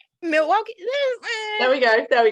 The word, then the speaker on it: Milwaukee: thank you and isbs is the us somewhere milwaukee i probably pronounced that wrong milwaukee there we go there we go milwaukee um